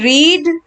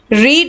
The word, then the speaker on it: read: See, the pronunciation changes, student. It does not changes its form, but pronunciation changes. This is a special one. Read in present tense, read in both the past forms. It is read.